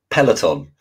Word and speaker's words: Peloton: I can't pronounce it, but it begins with P. It's something like Paragon. Controversial one. It's Peloton.